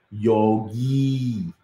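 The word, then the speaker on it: योगी: This yogi, this is not yogi. Many people say yogi. It's given yogi. That's how you need to pronounce yogi. You have to extend that.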